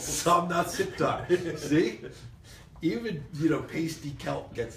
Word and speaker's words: Somnath Sikdar: There's 2 syllables. Somnath, Sikdar.